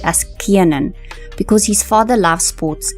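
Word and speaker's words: Kiernan: to become a teacher most people call him Kenan but he has actually clarified that his name is actually pronounced as Keanan because his father loves sports and he actually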